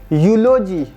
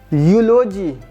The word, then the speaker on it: eulogy: Ew we E what it is written we do not pronounce we pronounce it differently. It is U. U you a female ship. Europe Europe Europe. Eulogy. Eulogy.